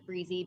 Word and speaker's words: Brisse: YouTube channel where I post my updates Breezy b-r-i-s-fc Breezy sounds like Breezy I mispronounced it Breezy that's so cool I was calling it and I was like I'm like is